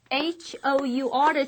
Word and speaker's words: hour: H-O-U-R를 씁니다. H가 있으니까 자음 아니야 할 것 같지만 실제로 우리가 이 H를 발음하지 않죠? This is silent.